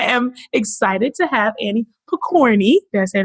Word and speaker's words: Pokorny: memory of money so my name is Pokorny as was well pronounced and I am formerly